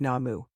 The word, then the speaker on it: Namu: They pronounce the mantra Nam without the vowel U. The case is considered a lack of understanding, or perhaps an ego code, to differentiate their practice. By pronouncing just Nam instead of Namu, it is as if you dethroned the 10,000 Buddhas of the universe.